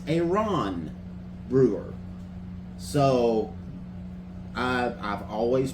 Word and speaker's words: Aaron Brewer: It is not Aaron Brewer. It is a Ron Brewer.